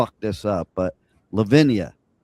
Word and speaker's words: Levinia: And so, let's welcome to the show and I hope I don't this up, but Lavinia. Lavinia, you got it.